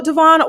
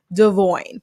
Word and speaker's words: Devoin: so she's like so devon why do people pronounce your name wrong remember devon's name is actually supposed to be pronounced devoid and the reason i'm